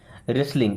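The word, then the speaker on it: wrestling: एल आई एन जी रेसलिंग यहां पे भी डब्ल्यू साइलेंट है लगता है ओके हालांकि आप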